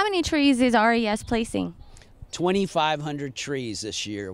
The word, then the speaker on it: RES: of wetland mitigation Solutions res pronounced res has over 30 mitigation